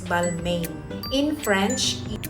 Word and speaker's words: Balmain: bagong-bago di ba It's balma that's the correct pronunciation in French Pero kung ayaw niyo ng sobrang arte Pwede din naman balmain whatever ito meron pang